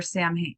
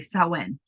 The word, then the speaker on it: Samhain: So some colors for Samhain, or sorry, Samhain. Black, orange, gold. I told you my dyslexic ass looks at that word and wants to say it phonetically.